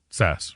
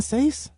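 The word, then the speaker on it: Sasse: Is it senator Ben Sass, right? He's a senator like Nebraska or something like that. I've been saying it wrong. Ben Seace. Oh, dang it.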